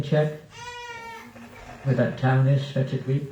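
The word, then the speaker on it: Svitavy: Where that town is, Shvetadweep, how do you say it? I call it Shvetadweep. Huh? Svitavi.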